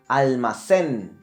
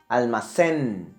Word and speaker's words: almacén: One last example would be almacén. It finished in the letter N, almacén. But the accent will be located in the last syllable, almacén.